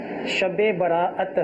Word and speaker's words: شب براءت: بسم اللہ الرحمن الرحیم۔ اصل لفظ شب براءت ہے۔ ٹھیک ہے، براءت کا معنی چھٹکارا ہے، تو چھٹکارے کی، نجات کی شب اس کا اصل تلفظ ہے۔ تو اس کی اگر